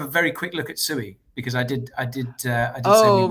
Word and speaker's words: Sui: Oh yeah, how do you pronounce it? Because I've heard, you know, didn't you say it was Sui, but like everyone says it's Sui, right? It's Sui. I mean, you know, it should be Sui.